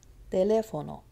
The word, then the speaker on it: teléfono: Teléfono. Teléfono. It's on the le. And if you notice, it's 3 syllables from the back.